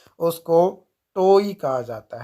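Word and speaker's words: toe: देखो यहाँ पे अगर आप इंग्लिश के प्रोनाउंसिएशन के अनुसार चलोगे तो टो कहा जाता है, क्योंकि ई जो है लास्ट में क्या हो जाता है? साइलेंट हो जाता है।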